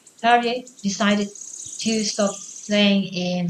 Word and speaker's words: Terje: Why did Terje, this is how we pronounce this name in Norwegian, Terje decided to stop playing in the jazz band?